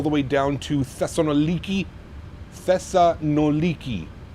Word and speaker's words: Thessaloniki: Thessa noliki. Mhm. That's how you say it.